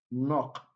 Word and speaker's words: knock: is not the answer knock knock knock okay letter k here is silent anywhere you see it's